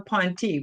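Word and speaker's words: P'nti: I've been calling them the Pontiel, but you call them the Ponti, right? Is that how to pronounce it?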